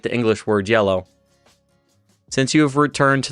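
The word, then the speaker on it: hielo: And then the IE form one single syllable, where that I makes like kind of like a Y sound at the front. So it's IE makes yeah, and then you have lo. So it's yellow.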